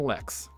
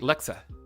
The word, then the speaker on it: Lexa: Lex says also I'm Lex. Oh wait, Lexa, not Lex.